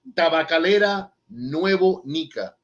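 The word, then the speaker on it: Tabacalera Nuevo Nica: to hear it like that my man so tabakalera nuevo nika can you say that no no no he's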